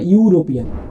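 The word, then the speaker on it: European: ही इज यूरोपियन, यहाँ पर ई देख के आप एन मत लगा दीजिएगा, इसका उच्चारण के हिसाब से होगा यूरोपियन, यानी यू आ रहा है ना, तो यहाँ पर ए लगेगा, ठीक है।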